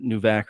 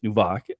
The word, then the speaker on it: Nvak: to dive into and apologies I said new vac earlier it's nubok and I do want